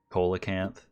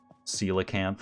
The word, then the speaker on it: coelacanth: it warfish football fish colacanth coelacanth i think is actually the way you pronounce it this is like